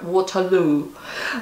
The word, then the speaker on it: Waterloo: Англичане произносят это как Waterloo, что в переводе означает «водный туалет», как сказал мне Стас.